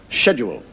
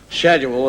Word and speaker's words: schedule: the word is not schedule is schedule s is SK not sh and I said well no I don't think so I think it's schedule schedule that's the way the word is pronounced he said no SK